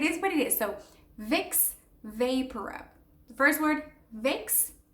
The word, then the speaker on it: Vicks VapoRub: So Vicks Vaporub. The first word, Vicks, not complicated, Vicks. The second one would be vapor and then rub.